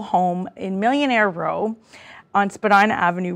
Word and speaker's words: Spadina: Actually, Spadina House is how they pronounce it.